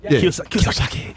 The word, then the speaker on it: Kiyosaki: Kiyosaki.